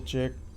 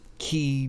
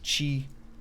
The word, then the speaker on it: qi: uh you know the key deviation or whatever that happens in him or Chi deviation I always want to say key because they spell it with the QI but I guess it's Chi sound chi chi Chi choo